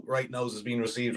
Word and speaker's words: Right Nows: And yes, it's pronounced. That's how it is now. Not right now, but right now. Right now, it's Right Nows.